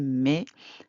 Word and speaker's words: mets: We're not pronouncing the TS. Tu mets un jean.